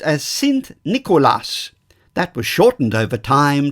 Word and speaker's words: Sint Nikolaas: Nicholas in the Dutch language St Nicholas is pronounced as s Nicolas that was shortened over time to Cent Claus